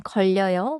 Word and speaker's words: 걸려요: 걸려요에서 걸. 다음에 혀가 바로 이어져요. 걸려요.